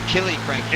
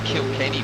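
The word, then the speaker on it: Killiecrankie: Does he say Kilo Cranky? Killy Cranky, isn't it? That's right. I said Kilkenny before, but...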